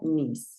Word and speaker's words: niece: Se escribe niece, pero se pronuncia niece.